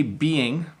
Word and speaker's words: being: So first of all, listen to this. I say being, okay?